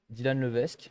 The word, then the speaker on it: Dylan Levesque: Et ce soir, invité d'exception, Dylan Levesque. Je le prononce bien, c'est bon? Ouais, parfait. C'est vrai? Et c'est rare, hein, donc bravo. Eh ben, j'ai lu, et en fait, j'ai lu comme c'est écrit, donc ouais, bah cool, tant mieux.